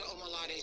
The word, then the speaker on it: Omolade: On Instagram is Omalade, and that's. Omalade is spelled Omolade, and is.